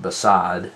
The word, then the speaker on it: beside: so beside pronounce it beside and then you'll understand that there's an unstressed on the b and a stressed on side cuz it's beside you can hear the